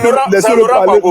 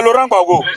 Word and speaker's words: Laurent Gbagbo: Prononce son nom. Bon, c'est Laurent Gbagbo. Ok, merci beaucoup. Merci beaucoup. C'est Laurent Gbagbo.